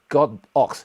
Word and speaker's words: Godox: should be pronouncing as God ox. It's not Godox, it's God ox, and that's actually what's been translated in Chinese, and they have Chinese character in the website.